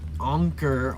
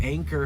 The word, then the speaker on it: Anker: Like their battery banks, everybody was like, "Oh, the the the IRL community all uses anker or anchor, however everybody wants to pronounce it." An keer.